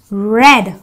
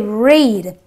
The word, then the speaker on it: read: gives me the S sound so I say red I don't say read just to let you know that Ed giving